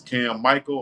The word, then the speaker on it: Michael: And yes, it's Cam Michael, although it's spelled like Mikhail, but it's Cam Michael.